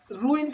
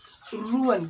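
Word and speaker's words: ruin: इसको कुछ लोग रूइन कहते हैं, but that is the wrong pronunciation. रुअन, क्या पढ़ेंगे इसको? रुअन। तो रूइन नहीं कहना है, नॉर रुअन मेक ऑपरेसर्स।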